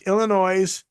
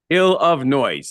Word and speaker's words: Illinois: city I should say it's Illinois and it's ill of noise yes the ill of